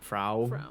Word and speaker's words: Frau: beau from i just i'm going by like how they pronounce it in the film which is frau yeah i try to